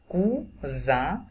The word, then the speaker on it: cousin: is silent leur cousin cousin single s zo sound cousin dans le jardin তাহলে